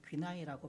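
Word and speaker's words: γύναι: 예수께서 이르시되 여자여에 해당하는 헬라어 귀나이라고 발음합니다.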